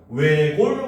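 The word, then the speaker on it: 외곬: 자리에 앉다 역시 마찬가지 지읒이 탈락돼서 발음되고 여덜 같은 경우도 비읍이 탈락해서 발음하고 외골 같은 경우도 시옷이 탈락해서 발음을 합니다.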